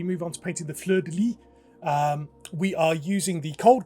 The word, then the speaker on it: fleur de lis: Fleur de lis. Okay, I missed out the S on it.